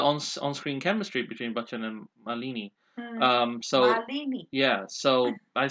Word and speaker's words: Malini: The film was critically acclaimed, especially for the on-screen chemistry between Bachchan and Malini. So Malini. yeah, so I said it right, and You said Malini.